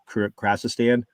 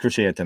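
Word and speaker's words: Krrsantan: Carrie Jones, who is the Black Krasistan, the newest Chewbacca. Black Krashantan. Correct, Krashantan.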